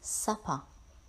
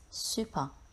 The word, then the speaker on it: supper: word number six is supper we have supper after our dinner it's normally a late meal at night many students read this word at super remember its pronunciation and meaning by I was so hungry